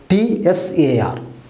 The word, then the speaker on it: Tsar: T-S-A-R, but the pronunciation Tsar dynasty.